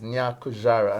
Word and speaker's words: Nyakujarah: put this inside mistress loveness good night Mrs nyakujara and I hope I'm doing a good job Folks at pronouncing this the last name good night Mom